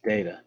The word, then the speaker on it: data: It's not data, it's data. Is how you pronounce that word, and it comes in two flavors, chocolate and vanilla.